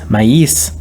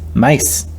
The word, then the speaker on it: maíz: We collapse two adjacent vowels into a single syllable, and sometimes shift the stress in certain words, such as maíz, mais, cojete, cohete, We leave out certain